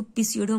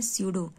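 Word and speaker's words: pseudo: स्यूडो मतलब समझते हैं ना, इसको पिस्यूडो मत पढ़िएगा, इसको पढ़ते हैं स्यूडो, इसमें पी साइलेंट रहता है।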